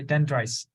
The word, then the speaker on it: dendrites: Christ good crazy yeah remember the S okay dendrites all right what about